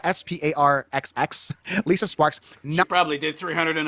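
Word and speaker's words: Lisa Sparxx: Her name is Lisa Sparks, but it's spelled Sparxx. Lisa Sparks.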